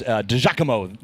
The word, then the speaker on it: DiGiacomo: And it was DiGiacomo is the that's pronunciation right.